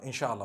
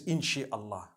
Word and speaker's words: inshallah: in means to create no one says in Allah they say inshallah that's what it is